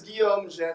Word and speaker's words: Guillaume Gète: So my name is Guillaume Ge, so this is how you say it, because sometimes people just say Guillaume or Guiti, and sometimes you just call me like my French English version of Guillaume is William.